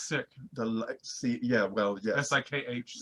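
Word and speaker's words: Sikh: It's sick.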